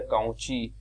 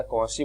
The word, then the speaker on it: Cauchy: कभी कभी इसको कई जगह आपको कई लोग इसे प्रोनाउंसिएट करेंगे कॉची या काउची, लेकिन मोस्टली इसका यूज जो प्रोनाउंसिएशन होता है वो कॉची सीक्वेंस के रूप में या कॉची बोला जाता है, ठीक है।